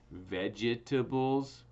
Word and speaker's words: vegetables: Again, vegetables, and veggies, right? So it's 4 syllables, but we say it with just 3 syllables, but actually they shorten it to just 2 syllables, veggies.